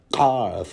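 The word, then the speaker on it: Qarth: yeah, here's another one, Karth, there's a Kaf, there's another Arabic letter, because Karth is, of course, spelled with a Q, which would be the Qaf.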